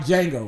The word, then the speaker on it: Django: That nigga beard look like Django. Nigga. Okay? That shit is fucked up. And the D is silent.